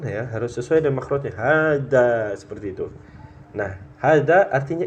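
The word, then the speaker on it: هذا: Jadi totalnya empat huruf maka enggak boleh kita bacanya hadza Ya tapi dengan dua harakat h-nya Nah makanya penting belajar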